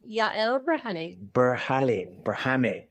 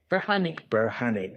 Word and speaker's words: Yael Berhane: Yael Berhane. Berhane.